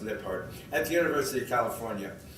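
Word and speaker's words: Lijphart: by dr aranda lippard l-i-j-p-h-a-r-t but pronounced lip heart at the university of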